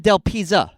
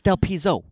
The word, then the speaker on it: Del Pizzo: You said Del Pizza. It's Del Pizzo.